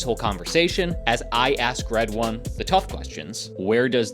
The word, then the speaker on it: Redouane: background my background well my name is red one as I was explaining to you even before before it pronounced like red as a color and one as a number that's the easy one